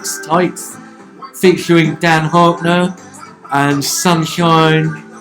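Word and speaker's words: Tieks: Right, excuse pronunciation, is it Tykes? T-I-E-K-S, Tykes, featuring Dan Harkner and Sunshine.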